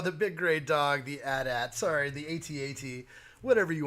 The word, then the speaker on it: AT-AT: and all these others, and you don't call those ATs. Just you don't say that. So I guess the proper pronunciation is AT-AT.